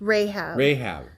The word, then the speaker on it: Rahab: It's Rahab.